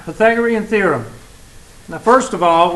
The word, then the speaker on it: Pythagorean: Pythag. That sounds like a couple of words. O, like jack-o'-lantern, jack-o'-rean, and rean, like the second two syllables of Korean. Okay? Korean, rean. So, Pythagorean.